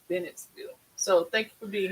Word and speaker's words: Bennettsville: Miller said hello from Bentonville, South Carolina. Did I say it right? Bennettsville.